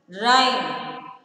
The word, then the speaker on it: rhyme: Second word, rhyme. So the letter H is again silent there.